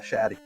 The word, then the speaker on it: Shatty: Is it Shatty or? Yeah, Shatty. Yeah, I told you. Okay, we were saying it right.